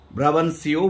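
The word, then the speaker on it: Brabantio: হু was known as ব্রাবান্টিও, বা কারো কারো মতে এটার উচ্চারণটা ব্রাবানসিও বলে থাকে, যে যিনি ব্রাবান্টিও বা ব্রাবানসিও নামে পরিচিত ছিলেন।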